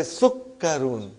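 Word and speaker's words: سكر: Sister Salma, you will say sukkarun. Whenever there is a shadda, give justice to shadda and pronounce it properly.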